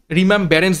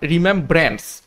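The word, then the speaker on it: remembrance: থেকে হবে না এবং আমি প্রথম উচ্চারণটা ভুল করেছিলাম রিমেম ব্যারেন্স বলেছিলাম সেটাও কিন্তু হবে না রিমেমব্রেন্স স্পেলিংটা কি বা উচ্চারণটা কি?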